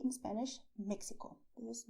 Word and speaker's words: México: I did not say Mexico with the sound of taxi because Mexico is to be pronounced the way I told you, Mexico. Alright? You can say Mexico, soft, with your throat, or a little stronger, also with your throat.